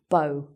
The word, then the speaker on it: bow: So that's pronounced like "oh", "bow".